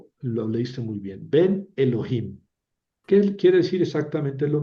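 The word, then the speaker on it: אֱלֹהִים: Suena como una e brevíima, ¿verdad? Ven, Elohim. Eh, sin embargo, eh eh sí, sí hay que pronunciarla, ¿verdad? Como una breve, Elohim.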